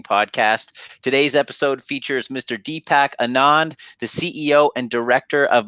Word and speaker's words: Deepak Anand: today we have an exciting guest we have Deepak Anand did I pronounce that correctly Deepak yep you did awesome